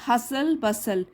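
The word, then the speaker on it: hustle bustle: The constant हसल बसल, T silent है यहाँ पर भी टी साइलेंट है।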